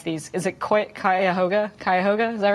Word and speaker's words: Cuyahoga: in in the in I had can never pronounce these is it quite Cuyahoga Cuyahoga is all right kite Cuyahoga I'm not from